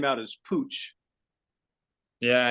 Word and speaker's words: Puig: of Barcelona right so even in Spain they pronounce it bad sometimes so I'm I'm used it hopefully I'm GNA let the the the world of goth know that it's Pooch um Jerry I got